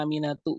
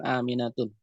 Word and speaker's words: Aminah: ada pengetahuan Gak kenapa Aminah dibacanya aminatu bukan aminatun tahu sudah tahu apa